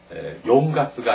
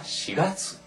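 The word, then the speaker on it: しがつ: 중에서 월을 셀 때는 4월은 용 가스가 아니라 시가스 라고 하고 7월은 가스가 아니라 시하스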